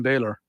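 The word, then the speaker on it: Bálor: who you got Finn Balor by the way from Ireland yeah I know but if you're going to if you're gonna say it properly It's Finn Baylor okay well anyway because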